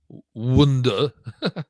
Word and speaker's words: wundor: But the word itself, wonder, comes from the Old English wonder. How do you pronounce that? Better to spell it. Wundor. And that's Old English. It would have been pronounced wonder.